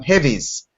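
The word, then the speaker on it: Hévíz: I just did in uh heit um Heavies is really how you pronounce it in Hungary last weekend so they're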